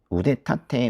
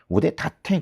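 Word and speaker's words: 腕立て: 우대타태 후세. 근데이 우대타태라고 하지 않고 보통 발음을 우대 다태 그렇게 많이 하더라고요. 우대 다태 후세.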